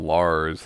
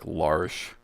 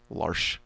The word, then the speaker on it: Lars: Well, they call him Lars, and it's actually like Larsh. Larsh. Yeah. It's spelt Lars, but it's Norwegian, so the way you pronounce it is different.